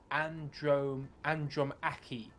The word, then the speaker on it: Andromache: Andromache. Usually a hard C if you can.